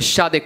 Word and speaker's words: Shade: Sai che a fare freestyle io sono un campione, ti dico che si dice Shade, questo è il mio nome, perché quando faccio freestyle